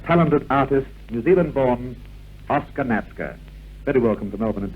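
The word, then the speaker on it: Natzke: in the past although we've pronounced your name Nazca it's always been spelled na t Zed ke I thought about that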